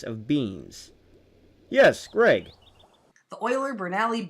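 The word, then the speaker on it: Euler–Bernoulli: beam yes Greg the oiler brali beam Theory correct and no one ever pronounces it correctly so I'm very proud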